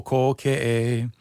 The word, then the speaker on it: Kōkeʻe: O Kōkeʻe, you kind of roll into the o sound. O Kōkeʻe.